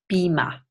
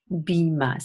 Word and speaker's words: Beamer: and then we say Beema Beema so we have in the high front vowel as in eager and then the deep schwa Bheema so again stress